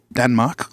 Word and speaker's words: Danmark: But they did a song about Denmark and it's called Denmark, which is how you say Denmark in Danish.